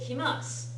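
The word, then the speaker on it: 来ます: If you write it with mas, you have to remember to write it, to read it kimas.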